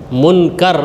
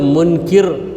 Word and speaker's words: منکر: کا نام ہے نکیر۔ منکر یہ صحیح تلفظ ہے، بہت سے لوگ منکر کہہ لیتے ہیں، ان کے کہنے پہ